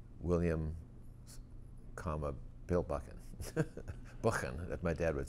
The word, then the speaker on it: Buchan: But all my dad's friends called us Buchan, which is the true pronunciation.